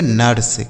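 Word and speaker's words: nurse: एन यू आर एस ई इसे पढ़ेंगे नर्स।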